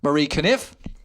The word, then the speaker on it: Conniffe: This week's very special guest is the wonderful artist, singer, and songwriter Marie Conniffe. Yay! And I pronounced it correctly this time, just like Ken Conniffe.